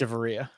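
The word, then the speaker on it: Echavarria: It's Echevarria.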